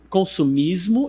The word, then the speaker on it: consumerism: Quando nós temos esse sufixo nas palavras, ISM, nós vamos pronunciar desta forma aqui. Isso aqui são os símbolos fonéticos. Eu vou pronunciar assim, ism, ism. Ou seja, consumismo, eu falo consumism, ism.